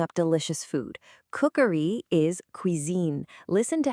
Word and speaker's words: cuisine: Let me hear you try to nail that soft Z sound right in the middle. Je fais de la cuisine.